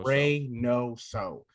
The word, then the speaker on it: Reynoso: last name my last name is literally is speaking right now rey no so he's phonetically perfect and they [ __